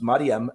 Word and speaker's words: Maryam: which, as you know, you Arabicize that becomes Maryam. Am I correct with that? Yep. That is how you pronounce it.